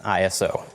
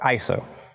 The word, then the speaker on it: ISO: the last thing is ISO or ISO you can pronounce it either way it stands for the